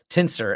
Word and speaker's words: TNSR: I haven't used Tinsr as they pronounce it.